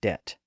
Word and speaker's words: debt: Latin and Greek roots, like the B in doubt and debt.